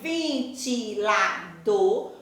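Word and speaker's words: ventilador: forte não está acentuado mas na hora que eu pronuncio eu vou saber que aí vintilador a última sílaba é a sílaba mais forte e funil uniu é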